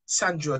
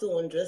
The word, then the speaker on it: Saundra: Pronounce Saundra, so I just change it to Saundra for the benefit of those that are on from Breakfast Show.